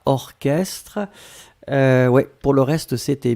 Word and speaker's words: orchestre: Souvenez-vous, C'est bizarre, mais il existe certains mots qu'on écrit ch, mais qu'on prononce que. Il n'y en a pas beaucoup, c'est vraiment une minorité, mais ici c'est un exemple.